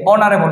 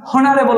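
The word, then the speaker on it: honorable: হচ্ছে একটি এই যে অনারেবল এটা কি কিন্তু আমরা হনারেবল বলছি না ভালোভাবে বুঝি এটা কিন্তু হনারেবল নয় এটা হচ্ছে অনারেবল এই যে ও দিয়ে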